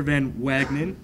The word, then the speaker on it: Van Wagenen: This next one is Arthur Van Wagenen.